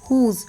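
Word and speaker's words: whose: कुछ एक्सेप्शन देख लीजिए जैसे डब्लू एच ओ एस ई हुज मैंने बोला था कि डब्लू के बाद आता है तो साइलेंट होता है बट अभी जब मैं ये वर्ड्स रीड करूंगी तो यहां पे एक्चुअली डब्लू साइलेंट हो रहा है ना कि एच देखिए होल हु हु so ever हु ever तो यहां पे क्या है डब्लू साइलेंट हो रहा है एच साइलेंट नहीं हो रहा है तो यह एक एक्सेप्शन है तो इसे आप याद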